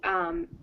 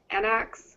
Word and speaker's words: Anox: So the first one is pronounced Anox. Anox. You kind of say it fast. You go Anox.